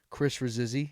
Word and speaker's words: Chris Rasizzi: I'm with my good friend, and I like to say Instagram personality, TikTok personality, influencer personality, Chris Rasizzi. And that's the right pronunciation, Yes, sir.